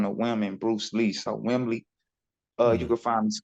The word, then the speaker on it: Wimley: everyone on Spotify Man r-a-y-w-i-m-l-e-y that's Wembley and my name is pronounced on the women Bruce Lee so Wembley uh you can find me Spotify Instagram Facebook